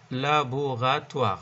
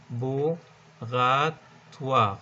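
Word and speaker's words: laboratoire: فبالتالي في عندي لابوغاتوار، لابوغاتوار نكتب لكم اياها عشان تعرفوا تلفظوها، لابوغاتوار. احنا عارفين طبعا الاو والاي باللغة الفرنسية عبارة عن وا، تمام.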